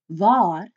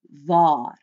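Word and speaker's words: wie: V VAR means where VAR notice the long a sound there with the Double A's can you say it with me VAR V means who or even whom V notice the short e sound say it with me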